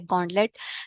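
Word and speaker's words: gauntlet: अगर स्टार्ट में देखें तो एक रूट वर्ड भी बन रहा है गन का ऑलमोस्ट, यानी गन की तरह प्रोनाउंस कर रहा है गॉन्टलेट।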